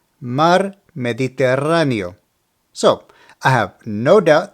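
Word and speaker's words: Mar Mediterráneo: pronunciation is ayto ehto obviously this word is referring to the Mediterranean Sea the correct pronunciation for this one is mar mediterano mar mediterano so I have no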